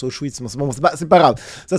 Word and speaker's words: Auschwitz: Bon, déjà, il sait même pas qu'on prononce Auschwitz.